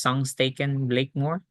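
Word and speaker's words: Sengstaken-Blakemore: there it's spelled as s staken but it's pronounced s staken Blakemore and this is what it looks like so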